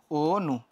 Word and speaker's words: অনু: হয়ে যাওয়ার পরে তাহলে এর বানানটা উচ্চারণটা কেমন হইলো উচ্চারণটা হয়ে গেল হচ্ছে ও নু ব্যাপারটা কি ক্লিয়ার এরকম